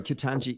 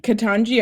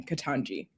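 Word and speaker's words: Ketanji: kitanji kitanji brown jackson's that he pronounced her first name katanji i've heard i've heard it said um i've listened to some her recordings of her saying her own name katanji katanji brown jackson um you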